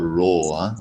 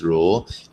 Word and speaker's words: rho: it's not really pina it's called row okay let me remind you once again thanks adam okay this is pronounced as rho it is uh it